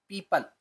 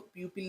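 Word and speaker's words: people: पीपल, इसको प्यूपिल नहीं पढ़ेंगे, पीपल।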